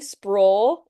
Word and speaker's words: Sproul: Sprawl is the full and both of them get pronounced wrong all the time.